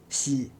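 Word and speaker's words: 洗: Xi, laver, nettoyer. Xi signifie laver, nettoyer. Le radical shui indique le moyen. Xian est là pour la prononciation xi.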